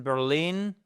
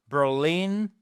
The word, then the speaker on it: Berlin: She lives in Berlin. Berlin, Berlin, the stress is on the second syllable, all ?